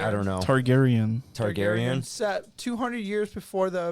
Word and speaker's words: Targaryen: Targaryen? Yeah, Targaryen. I don't know. Targaryen.